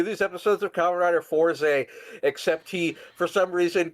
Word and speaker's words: Forze: episodes of Kamen Rider Forze, except he, for some reason, couldn't parse how to pronounce it despite watching the fucking show. So he pronounced it Forza, like Forza Motorsports.